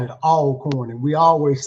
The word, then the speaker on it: Alcorn: Um, what was it like being a division one athlete at Alorn State University? So, a northerners uh usually uh pronounce it alorn. We call it all corn and we always say always corn.